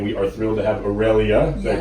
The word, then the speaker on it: Aurelia: We're back in the Bethesda office, and we are thrilled to have Aurelia. Did I pronounce it correctly?